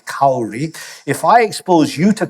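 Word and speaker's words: Kári: you to Cur Stephon he pronounces it the way that Icelandic vikingos would which is cowry if I expose you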